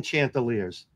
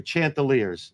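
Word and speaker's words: Chanticleer: we'll be the fighting they're not even a fighting Chantel years they're Chantel ear it's a rooster a Blue Rooster H the second C is silent it is everyone's yelling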